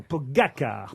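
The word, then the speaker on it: Pogačar: pour son premier tour, Pogacar, c'est son nom, Pogacar, pardon. Très bien prononcé.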